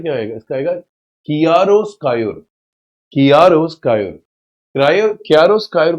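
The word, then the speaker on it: chiaroscuro: इसको याद करने का तरीका, कियारो, इसका कियारो, उस पर प्रोनाउंसिएशन स्कायोर, कियारो स्कायोर, ये इसका साउंड है, ठीक है।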